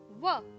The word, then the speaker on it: what: make a sound walk because H is silent here and we can only hear the W sound whoa so W H together make a sound what repeat with me kids